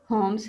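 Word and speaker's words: Holmes: इस character list में Sherlock होम्स है, एल इसमें साइलेंट है।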